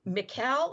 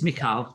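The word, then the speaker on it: Michal: other stories yes and is it mikael is that how we're going to pronounce her name mikael it looks like michael yeah it's mikhail in hebrew okay so mikhail was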